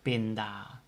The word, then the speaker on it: pinda: an ah sound and the word for peanut is pinda also the the a is the last letter of the word so the pronunciation is ah binda all right so keep